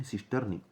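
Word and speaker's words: cisternae: सिस्टर्नी कहते हैं, उसका प्रोनाउंसिएशन सिस्टर्नी।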